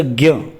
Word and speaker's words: ज्ञ: देखिए उच्चारण होता है इसका ज्ञ, ग और य, लेकिन जब लिखते हैं तो ज्ञ लिखा जाता है, ये जरूर ध्यान रखना।